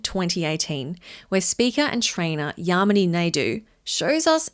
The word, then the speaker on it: Yamini: first met, she said, "My name is Yamini, and the way you can remember that is it rhymes with harmony," which I loved.